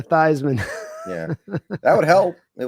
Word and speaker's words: Theismann: Yeah, like when Joe Theismann changed his last name so it would rhyme with Heisman. That's right. Yeah, Thesman to Theismann.